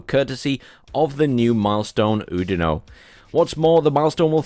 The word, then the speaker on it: Oudinot: We now have Oudinot. Once again, the French just not pronouncing the last letter of a word.